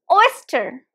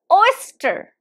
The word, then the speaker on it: oyster: e oyster oyster and the stress is on the first syllable there are just two